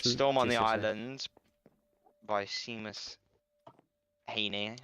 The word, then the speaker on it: Seamus: Storm on the island by Seamus Haney. I think that's how you say his name. Sheamus. Sheamusy. Sheamus. Oh, yeah. I should know that one.